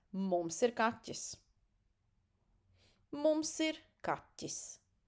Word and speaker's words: kaķis: Mums ir kaķis. Ķ. This is how it pronounced. It is not easy. I understand. This is kind of a little bit super soft t. Kaķis, right? Not kaķis. Kaķis.